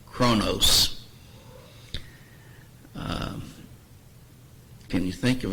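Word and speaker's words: χρόνος: if you look here it would be pronounced Kronos um can you think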